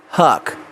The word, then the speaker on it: Huc: enzyme in question is called hook pronounced Huck it's made by bacteria